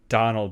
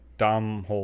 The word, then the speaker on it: Domhnall: It's not Donald, but it's like Domhnall.